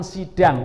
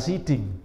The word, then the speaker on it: sidang: Lalu ini yang saya ceritakan di awal, talak harus diucapkan oleh suami di depan sidang, bukan siding ya.